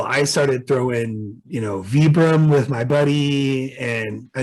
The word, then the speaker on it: Vibram: So I started throwing, you know, Vibram with my buddy, and I mean, I think it's technically pronounced Vibram. It's Vibram, right. But it's technically pronounced Vibram. You're right.